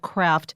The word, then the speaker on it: Craeft: of this book which I don't think is pronounced differently but you choose to call the book craft c r a ft